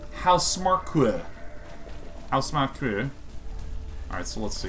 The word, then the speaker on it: Housemarque: Pretty sure I know how to pronounce the title of your studio. I, for many years, thought it was House Marquee, so there you go.